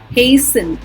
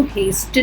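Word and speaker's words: hasten: हेसन, इसको हेस्टन नहीं बोलेंगे, फास्टन नहीं बोलेंगे, फासन.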